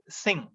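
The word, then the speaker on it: Synge: 1907 we have uh j m singh uh pronunciation is singh spelling yes y-n-g-e singh and his uh in a celebrated work the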